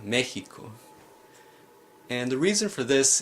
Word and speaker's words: Mexico: word Mexico now here the X is not pronounced helix or sir but rather more like the Spanish letter Horton so wha Hakka Mexico and the reason for this is because these